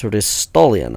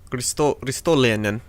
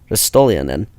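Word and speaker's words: Ristolainen: end, the most assists are coming from Rasmus Ristolian. I do not believe I pronounced that correctly. You see the name I'm going for, right? Yes, I do. How would you pronounce it? Ristolianen. Ristolianen.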